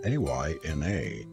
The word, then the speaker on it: Aina: "My name is Aina," she added, pronouncing it Ayna, with the Highland lilt in her voice.